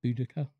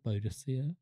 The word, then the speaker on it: Boudica: With Boudica or Boudicea, depending on how you like to pronounce it.